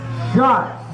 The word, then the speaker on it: Schatz: The new advisor is Maria Schatz, right? Schatz? I said it right the first time?